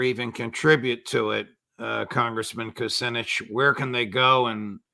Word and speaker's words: Kucinich: If people want to learn about your campaign or even contribute to it, Congressman Kucinich, where can they go and how can they do it?